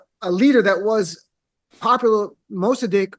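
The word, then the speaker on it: Mosaddegh: there actually was a leader that was popular Mostadiq How do you pronounce the name? Mostadiq? Mostadiq, yeah.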